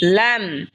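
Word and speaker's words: لام: এরপর হলো লাম, লাম জিহ্বার আগার কিনারা সামনের ওপরের মারির দাঁতের সঙ্গে লাগা উচ্চারণ হবে লাম।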